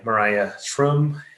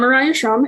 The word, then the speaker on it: Mariah Schrum: life and learning via personalized reciprocal teaching by mariah shroom aaron haslam bhatti and matthew gamale again sorry for mispronouncing your names awesome i think uh right